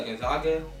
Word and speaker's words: Gonzaga: but the other team gag how do you pronounce them Gonzaga yeah Gonzaga I mean they're a great team too they've